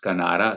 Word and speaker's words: Canara: It's Canara Bank. And as for the trick, if you see overseas also means Kinara, and Kinara rhymes with Canara, that is Kanara.